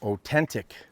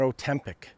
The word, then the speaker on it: Otentik: And we're staying at, this is called an Otentik. Not Ozempic and not Otempic, as I keep making the mistake in calling it that. It is an Otentik.